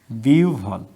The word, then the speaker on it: বিহ্বল: তো এই হয় বয়ের আগে রস্যই আছে, সেজন্য এটা উভ হচ্ছে।